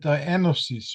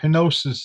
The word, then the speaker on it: henosis: Uh in Greek they talk about anosis or henosis is pronounced in English which means the joining